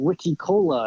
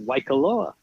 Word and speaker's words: Waikoloa: And he said, Hilton Wiki Cola. I said, Waikoloa.